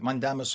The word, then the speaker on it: mandamus: Yeah, I was reading the judge ordered a writ of mandamus, which is mandamus in Latin, and that's the way it's pronounced in Latin, is we shall command, or we command, and a writ meaning a letter.